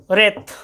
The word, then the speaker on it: wraith: और देखो WRAITH, रेत, ये रेत मतलब होता है भूत प्रेत, जिसको कि तुम घोस्ट भी कहते हो, घोस्ट, ठीक है, घोस्ट।